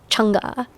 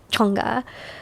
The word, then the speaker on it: Chang'e: Okay, so one of my favorites is, I'm going to make sure I pronounce this correctly because my tongue has to be in the right part. Chang'e. It has to be up here. Chang'e, who is a Chinese lunar goddess.